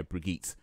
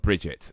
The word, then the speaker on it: Brigitte: Yeah, Brigitte. So I feel that's pronounced Brigitte and not Bridget.